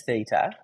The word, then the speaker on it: theta: This angle here is pi on 2 minus theta. So what does that make the angle here? Starts with th and rhymes with beta.